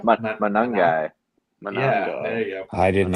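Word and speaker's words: Monangai: Managa? Manungai.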